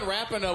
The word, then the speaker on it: Rapinoe: That's Megan Rapinoe with a mustache. It's pronounced Rapino.